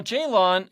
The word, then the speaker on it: Ceylan: So the C is pronounced as a J.